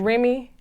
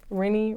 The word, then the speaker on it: Renni: Remy.